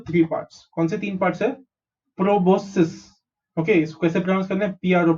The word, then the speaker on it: proboscis: and hemi called data is very easy to pronounce okay so body of these animals is divided into three parts considering parts of proboscis okay squeeze the transparent pro pro vos is both and cis is proboscis proboscis so they are divided into three parts